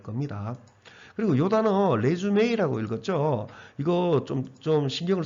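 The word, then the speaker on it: résumé: 은 정말 아무것도 안 될 겁니다 그리고요 단어 레쥬메 이라고 읽었죠 이거 점점 신경을 쓰셔야 됩니다 리슈 요렇게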